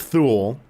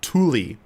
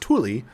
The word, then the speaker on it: Thule: remember but it's not thule uh it's ultimate ultima tully the t-h-u-l-e is pronounced tully uh it's ultimate thule